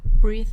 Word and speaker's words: breath: are different in pronunciation so we have breathe in or breathe out which sounds like an e sound breathe and we have breath which is the noun and it sounds like an a sound breath next we have